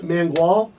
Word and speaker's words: Mangual: We got Coach Mangual.